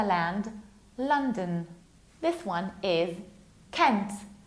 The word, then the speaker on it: Kent: This one is Kent, like Clark Kent, Kent.